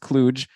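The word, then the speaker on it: kludge: now k-l-u-d-g-e and I just listened and it's pronounced cluge and it means an ill assorted collection of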